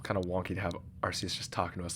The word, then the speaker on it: Arceus: Okay, side note, I think in English they've decided that the English pronunciation is Arceus, but in Japanese it's Arceus, it's Arceus, so that's what I'm going to be saying.